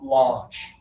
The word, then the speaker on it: launch: So, put up one finger again. Just like with honor, you're going to say a launch. Launch. Nice Abdula. That's great. Launch. Anna, let's hear it. Launch. Nice job. A lot of people want to say launch because of the au.